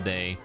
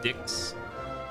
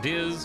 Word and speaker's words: Diz: this mummy dude called Dixs or D. I'm sorry D. His name is D, not Dix, but it's spelled weird. It's like uppercase lowercase capital like that. So you got Diz, who looks like a